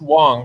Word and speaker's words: Wong: Oh, it is pronounced Wong. Okay. Yeah. All right. I didn't know. I thought it was with A. I thought like Wang or Fang or Dang.